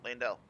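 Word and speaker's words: Leyndell: laying down look see lane dell oil capital and i know i say it right because the dude in the roundhouse table says it like that that's true i'm pretty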